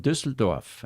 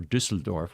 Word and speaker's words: Düsseldorf: Greetings from Düsseldorf. And that is a U with an umlaut at the top. That's why it's Ü.